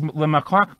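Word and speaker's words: Le Marquand: I had a Steve Lemarquand, that's how you pronounce it. Steve Lemarquand, that's his name.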